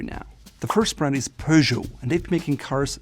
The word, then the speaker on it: Peugeot: When you look at the name first, you may think of it as Peugeot, or German would be Peugeot, but it's called Peugeot. In French, the E and T are silent, unlike in German, for example, and the G becomes that soft J. Peugeot.